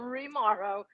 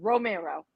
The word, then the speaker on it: Remauro: I've been called Romero since before high school. Exactly. Jimmy even calls me Romero. I don't think it does. It's not Romero or Rimaro. It's Romero.